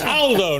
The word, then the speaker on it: Aldo: picked me up but it's Aldo not older Aldo's a very British